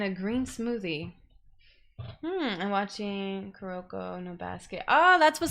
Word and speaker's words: Kuroko: mean is it wait kudoka kuroka i said kuroko i don't think i said it right yeah it is kuroko kuroko no basket i